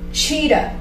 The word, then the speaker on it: cheetah: Une différence ici, c'est le CH en anglais se prononce comme ch, et en français se dit comme ch, chat, cheetah, chat, cheetah. N'oublie pas cette différence parce que c'est très important.